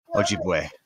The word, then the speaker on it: Ojibwe: How do you pronounce that word? Ojibwe.